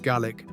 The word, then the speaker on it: Gaelic: Fresh off the plane from Colorado, the newest Gaelic, pronounced GIC adventurer to touch down on the mighty aisle of northeast.